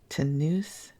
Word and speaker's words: Tonoose: In town for his annual physical examination, Tanus, it's spelled Tonoose, demonstrates to Charlie, Bunny, and the kids that he is still strong as a bull.